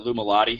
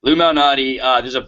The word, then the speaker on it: Lou Malnati: My girlfriend calls it Lou Malati. She just can't say it right, but it's Lou Malnati.